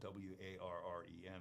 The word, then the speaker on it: Woren: most people spell it w-a-r-r-e-n without knowing that so when I introduce myself I would say hi I'm Warren that's w-o-r-e-n so anyway I just